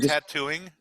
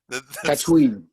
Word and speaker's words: Tatooine: lot of nice things for the people of Tatooine, like feeds the poor and stuff, and is nice. Did you call it tattooing? Tatooine.